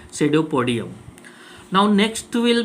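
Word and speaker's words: pseudopodium: So these are called the false feet या सेडोपोडियम. PSE से start होता है इसकी स्पेलिंग, सेडोपोडियम.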